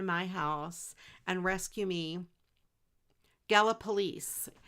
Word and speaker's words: Gallipolis: Gallipolice. You know, yes, that's how they say it on the radio. I always think of galloping police. You know, policemen.